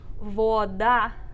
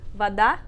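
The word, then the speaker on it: вода: So for this one, we write voda, water, but we say vada. And so the stress is on that second syllable. So again, the o comes one syllable before the stress, and so the reduction makes it sound like an a. So o, a. O, a. Yep. So the proper way again to actually say it is vada. Vada. Stress on the second syllable.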